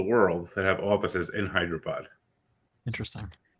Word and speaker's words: Hyderabad: I went to Hyderabad. Oh, Hyderabad. Is that how you say that? Yep. It's got a lot of syllables in there to like Yes.